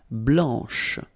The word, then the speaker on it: blanche: So here, masculine, blanc, don't pronounce the final C, and then blanche, okay? Remember when you combine this CH, you get the sound sh, blanche, okay?